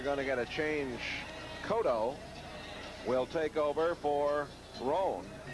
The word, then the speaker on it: Cotto: They pronounce that Cotto.